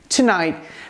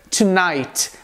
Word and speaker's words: tonight: Perceba aqui que a gente tem o costume de dizer na língua inglesa tonight, com a pronúncia do T final na palavra hoje à noite. Mas no dia a dia é muito mais comum a gente ouvir tonight, como se você simplesmente pausasse o T que vem ao final da palavra tonight.